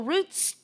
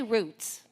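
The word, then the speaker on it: Routes: And when I say roots, it's spelled like route, R-O-U-T-E-S, but pronounced roots.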